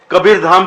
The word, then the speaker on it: कबीरधाम: वो नाम बिगड़ गया अंग्रेज लोग ठीक से हिंदी शब्द का उच्चारण नहीं कर पाते तो कबीर धाम को कबर धा कबर धा ऐसे बोलते थे कबीर का कबर रह गया और धाम का धा रह गया कबर धा कबर धा